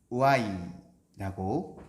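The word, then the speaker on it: οὐαί: 이 말을 헬라어로 살펴보면 우아이라고 발음하는 감탄사라고 해요. 우아이.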